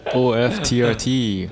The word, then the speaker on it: OFTRT: do foreign all right that was o-f-t-r-t with his first song did i say that